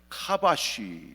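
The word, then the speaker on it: כבש: 이걸 히브리어로요.이 이 정복하라를 카바쉬 이렇게 발음을 하는데 선한 목적을 위해서 땅 속에 있는 모든 자원들을 개발해서 유용하게 잘 사용하라 하는 문화 명령이에요.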